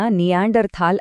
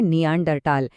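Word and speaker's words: Neanderthal: ಒಂದು ಮಜವಾದ ವಿಷಯ ಇದೆ ನಾವು ಸಾಮಾನ್ಯವಾಗಿ ಇದನ್ನ ನಿಯಾಂಡರ್ ಥಾಲ್ ಅಂತೀವಿ ಆದರೆ ಟೆಕ್ನಿಕಲಿ ಸರಿಯಾದ ಉಚ್ಚಾರಣೆ ನಿಯಾಂಡರ್ ಟಾಲ್ ಯಾಕೆಂದರೆ ಥಾಲ್ ಅನ್ನೋದು ಜರ್ಮನ್ ಭಾಷೆಯಲ್ಲಿ ಕಣಿವೆ ಅಂತ ಅರ್ಥ ಮತ್ತೆ ಅಲ್ಲಿ ಟಿಎಚ್ ಅನ್ನ ಟ ಅಂತಾನೆ ಉಚ್ಚರಿಸೋದು ಹಾಗಿದ್ರೆ ಈ ಎರಡು ಗುಂಪುಗಳು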